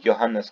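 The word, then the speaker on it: Johannes: हम जान लेते हैं सो it's pronounced as योहानेस जोनस लिख के है बट we pronounce it एज योहान अस कैपलर सो ही वाज अ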